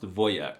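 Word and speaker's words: wojak: The wjack meme and the word are Polish, but it's actually pronounced voyek, which is the most alpha Slavic masculine thing I've heard all month.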